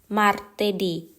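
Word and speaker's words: martedì: จันทร์ วัน อังคาร เรา จะ พูด ว่า มาตดิ มาเตดี วัน อังคาร ค่ะ วัน พุธ เรา จะ พูด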